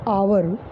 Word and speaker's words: hour: जैसे हमने कहा कि आवर, HOUR, आवर एक शब्द है जिसकी हिंदी होती है घंटा, घंटा की अंग्रेजी होती है आवर।